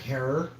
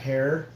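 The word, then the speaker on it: Herer: I spoke with Jack Herrera. Or Jack Herrer. That's how you pronounce it, like terror, but with an H.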